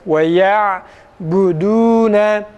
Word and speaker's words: وَيَعْبُدُونَ: وَيَعْبُدُونَ ü değil de u veya u'ya yakın bir sesle okuduğumuz zaman ise nasıl okunur? وَيَعْبُدُونَ bakın وَيَعْبُدُونَ وَيَعْبُدُونَ değil وَيَعْبُدُونَ dudağımızı uzatıyoruz yalnız.